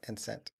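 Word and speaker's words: scent: So the C is silent.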